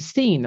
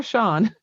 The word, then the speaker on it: Sean: She didn't pronounce the proper Irish spelling of Sean. She pronounced it Scene. I watched poor Sean, my friend Sean, be